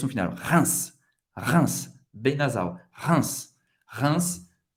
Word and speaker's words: Reims: Não é Reims, é Reims. Reims, como se fosse R-I-N. E um S no final. Reims.